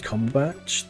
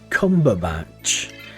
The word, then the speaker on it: Cumberbatch: Uh, I call it Benedict because there's a fantastic video of Benedict Combach, the British actor, talking about penguins.